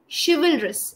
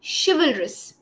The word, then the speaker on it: chivalrous: it it would be shalis she will R yes yeah she is one syllable V is the second syllable Russ is the third syllable shalis okay okay got